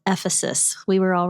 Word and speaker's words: Ephesus: Quick side note, it's pronounced Ephesus.